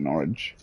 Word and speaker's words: Norwich: Yeah, also, even though it's like pronounced, like spelt like Northwick, they do call it Norwich.